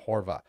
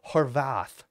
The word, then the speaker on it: Horvath: I don't like Kiki Dixon and Joshy G's pronunciation of Horvath. Horvath.